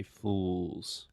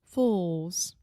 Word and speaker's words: fools: Brazilians to pronounce because it has the final l sound which in linguistics if you are a Linguistics nerd we call that the dark l so try to say